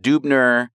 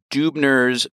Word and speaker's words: Dubner: So Dubner was more typically pronounced Dubner. Dubners were, my family came